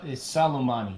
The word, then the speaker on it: Soleimani: Because apparently that general that we drone striked, how do you pronounce his name? Soleimani or something? I forgot how you say it. It's Soleimani.